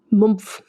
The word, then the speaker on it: Mumpf: She was born on the road, basically literally in Switzerland, in the Swiss town of Mumpf, which is spelled Mumpf. Spelled like it sounds. Mumpf.